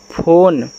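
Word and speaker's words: phone: से आपका ना फोन, और लास्ट में यहाँ ई भी होता है जिसका हम उच्चारण नहीं करते, लेकिन भाई फ़ोन में लगता ही तो लगा लेना क्योंकि यह इंग्लिश वर्ड है ना यार।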